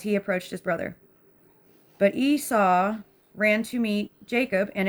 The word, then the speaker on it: Esau: It's apparently Esau. Let me know if I'm saying it right. Esau.